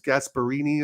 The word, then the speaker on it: Gasperini: an incredible coach and I think it's gasperini is how you say his last name yeah old school